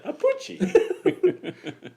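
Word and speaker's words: Appice: My brother pronounces his last name differently than I do, which is pretty weird. Apucci. See. That doesn't look like. I don't know how to write the phonetic alphabet. Apucci. I like that. It's probably that's probably accurate. Nice Italian from Brooklyn. Okay. For the record, his brother Carmine pronounces it a piece. Wow, they're both wrong. Apucci.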